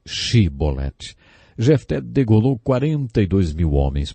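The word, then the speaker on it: Shibboleth: regiões do nosso país eles não conseguiam pronunciar o som ch e por isso diziam se bonetti ao invés de che bolatti zé degolou 42 mil homens porque eles não conseguiram dizer se bonetti algumas pessoas aplicando essa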